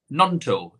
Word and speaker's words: Gnonto: Nonto. Is the G silent? The G, I believe the G is silent.